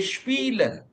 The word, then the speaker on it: spielen: Now we say spielen. Why? Because we have i first and e afterwards in the spelling.